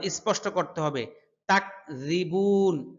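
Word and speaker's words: تكذبون: তাকযিবুন রাল পাতলা হরফ। রি রি রি রি বলুন, আপনারাও বলুন রি। বুন হ্যাঁ একালিফ টান আছে, যেহেতু এখানে পেশ এসেছে ঠোঁট গোল করতে হবে।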